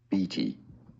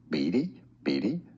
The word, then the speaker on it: Beatty: British English pronunciation is usually as BT. Now, in American English, it's either Beatty, generally as a first name, now as a surname. It's also pronounced as Beatty, as in.